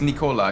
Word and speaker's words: Nikola: the first one is Nikola because it's pronounced just like the the soda and uh cyberpunk the